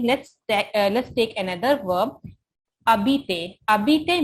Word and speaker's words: habiter: Habiter means to live. H is silent.